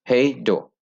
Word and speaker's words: Hej då: head ओ की pronunciation से इसको जी इसको सर ओ की प्रोनाउंसिएशन में पढ़ा जाएगा मतलब ए दो यस हे डो तो मैं कैसे जूम इन तो नहीं कर